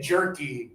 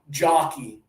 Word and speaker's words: jerky: Jockey. Jockey. Jockey. Yeah, a lot of students have difficulty with the sound, and they say jockey.